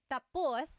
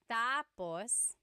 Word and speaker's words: tapos: So when it's tapos when the emphasis is at the endapos that means finished. When the emphasis is on the first syllable tapos then it means next.